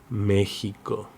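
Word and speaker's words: México: In some words of indigenous origin, like in Mexico, the X is pronounced like the J. So, like in Mexico, Mexico. Letter Y or Y.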